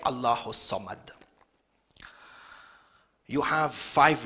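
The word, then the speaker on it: الله الصمد: See, when you're reciting the surah, you say Allahu Samad. You don't say Allahu Al-Samad. According to the rules of tajweed, the Lam is silent, there is idgham, and you don't say Allahu As-Samad. You join it together, Allahu Samad.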